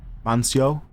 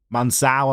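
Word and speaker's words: Mansão: We could maybe even include Mancio, as it's called here in Portugal, or in Brazil, in Brazilian Portuguese. Mansao, I'm being told.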